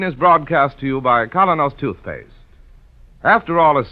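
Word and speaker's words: Kolynos: Keene is broadcast to you by Colonos Toothpaste.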